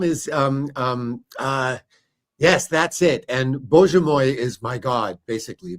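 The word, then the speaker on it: Боже мой: And Bože moj is my God, basically. Bože moj, yeah, my God, yes.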